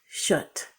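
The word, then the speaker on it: kött: This cat food, that word is not pronounced how you think. It's pronounced shut.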